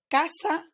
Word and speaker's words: casa: that comes after so if the letter C in Spanish is followed by the vowels the sound that you need to generate is like the English K in words like kayak koala or kudos so as such we have Casa Costa cuenta so the sea in Spanish when it's followed by the vowels sounds like a k ASA Costa cuenta on the other hand